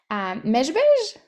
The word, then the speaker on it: Mezhbizh: of, and I'm hoping I'm pronouncing it right, Mezhbizh? Or No yeah, one knows how to pronounce Mezhbizh outside of Ukraine, but yes, Mezhbizh.